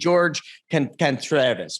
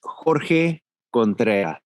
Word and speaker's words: Jorge Contreras: The American way would be Jorge Contreras, but it's actually Jorge Contreras.